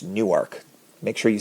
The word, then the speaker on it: Newark: And it is pronounced Newark.